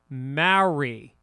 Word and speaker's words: Maori: And Maori is pronounced Mauri.